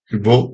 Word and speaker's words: Rivail: A semelhança de outros alunos de reconhecida capacidade que em 1817-18 foram elevados a submestre, cremos que Rivail, pouco mais, Rivaud, né, como se pronuncia, pouco mais tarde, também houvesse sido convocado por Pestalozzi para desempenhar as funções de submestre.